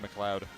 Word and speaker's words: MacLeod: it's spelled how you think it's spelled. It's just pronounced MacLeod. MacLeod, yeah. Yeah, that's what I said. You're not wrong about how it's spelled. It is spelled like that. It's just pronounced loud. MacLeod.